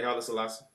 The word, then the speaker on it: Haile Selassie: What's your viewpoints on Haile Selassie? Did I say his name right? Haile Selassie. Yeah, Haile Selassie.